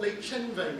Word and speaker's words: Les Chenvets: And the other secondary school that we haven't mentioned, Les Chenvets. Les Chenvets. Les Chenvets means something. I wonder if anyone knows what Le Chenve, that's the proper pronunciation, by the way. Anyone know what Le Chenve means?